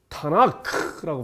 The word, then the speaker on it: 타나크: 여기서 토라의 티읕, 느비임의 눈, 그 다음에 크투빔의 크를 따서 그 첫 글자만 합하여 트, 느, 크를 합하여 발음하면서 타나크라고 부릅니다.